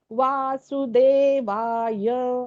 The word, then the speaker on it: वासुदेवाय: म्हणून ओम नमो भगवते वासुदेवाय आता यला थांबायच य असं नाही करायच य केला तो दीर्घ झाला या नाहीये तो य आहे मग तो य ला एकच मात्रा य थांबायच अशा रीतीने उच्चारण आहे